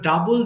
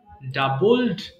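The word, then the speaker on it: double: এবার ডাবল, দ্বিগুণ করা, ডাবল, ডাবলড, ডাবলড। এটাকে আমরা অনেক সময় ভুল করে ডবল বলে ফেলি, বাট উচ্চারণ কিন্তু ডাবল হবে, ডাবল।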